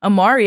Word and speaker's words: Amarii: Amari, yeah, you got it, with 2 I's.